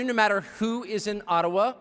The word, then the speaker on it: Ottawa: matter who is in Ottawa or as we say atawa which by the way is the correct pronunciation according to my friends in the AA Community I've pronounced it that